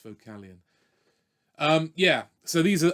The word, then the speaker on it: Vocalion: think it's vocal lion but it's not a vocal line it's vocalion um yeah so these